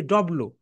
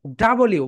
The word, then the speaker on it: W: আমরা এখানে এটাকে বলি ডব্লু। সো এটা হচ্ছে ডাবল ইউ।